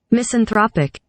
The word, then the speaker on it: misanthropic: they say let me it was like uh mission trophic i think that's what it's called that's the word wait let me let me get the pronunciation okay wait misanthropic okay misintropic and i think they called it